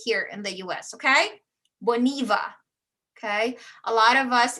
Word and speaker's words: Boniva: we say it here in the u.s okay boniva okay a lot of us if we are not familiar with it we're probably going to pronounce it as bonaiba right americans okay but this one is boniva i talked about hyundai right hyundai in south